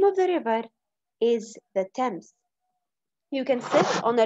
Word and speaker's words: Thames: together the new lesson a trip on the thames i know that's not how you write it but that's how you say it a trip on the